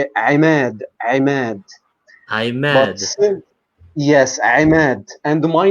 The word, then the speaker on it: Ahmed: Because that would be the short A in English, but how would I say that in Arabic? Ahmed? In Arabic, this sound doesn't exist in English. It's ayn, like it's Ahmed.